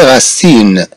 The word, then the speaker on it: racine: Bien sûr, ce sont des racines. Ce sont des racines. On dit racine, racine, si. Comme nous le constatons, quand on prononce le mot racine, on y entend le son si.